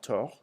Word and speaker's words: tort: Avoir tort. Avoir tort, without pronouncing the second T, tort.